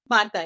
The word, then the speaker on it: Marta: Marta, am I pronouncing your name correctly, Marta? Marta, yeah.